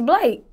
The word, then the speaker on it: Blake: your stage name uh the correct way to pronounce my stage name is Blake Blake is simple do people mispronounce this